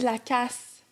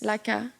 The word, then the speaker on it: Lacasse: T'as dit Lacasse. Non? Guys, il n'y a pas de prononciation du S. Laca.